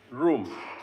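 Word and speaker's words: ruum: And that word is pronounced room. Room. R-U-U-M.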